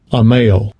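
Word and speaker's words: עמל: Strong's H 6001 Amal Yeah. Amal That's how you pronounce it in Hebrew, Amal.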